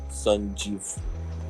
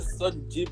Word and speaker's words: Sanjiv: Yeah, because you guys know that the spelling is San, so it comes as San, but it's actually pronounced as Sun. Sanjiv.